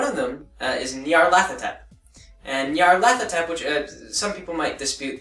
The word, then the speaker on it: Nyarlathotep: And Nyarlathotep, which some people might dispute this pronunciation.